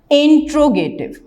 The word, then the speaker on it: interrogative: उसके बाद हमारे पास नंबर 3 इंट्रोगेटिव। इसका प्रोनाउंसिएशन इंटेरोगेटिव भी हो सकता है और इंट्रोगेटिव सेंटेंस भी हो सकता है।